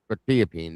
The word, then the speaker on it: quetiapine: Quetiapine, that's it.